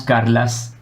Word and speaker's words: Carles: Non, je devrais peut-être dire son prénom, Carles, c'est ça? Oui, mais on prononce Carlas.